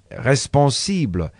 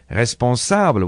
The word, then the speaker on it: responsable: When I wanted to say the word responsible, I said it with an I as in English, instead of responsable with an A as in French.